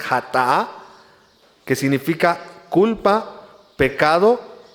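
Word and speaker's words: חטא: Dice, aquí lo maneja la palabra de Dios, dice en hebreo, más o menos la pronunciación es hatá, que significa culpa, pecado u ofensa, la cual, hermanos, es la transgresión de la ley.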